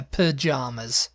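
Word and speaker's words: pyjamas: py yeah P yeah pajamas it's a pajamas my pajamas pajamas yeah pajamas pajamas yeah pajamas like bananas and we say p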